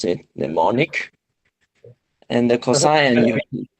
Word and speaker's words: Mnemonic: cyberpunk theme movies, like Johnny, how do I pronounce it? Mnemonic.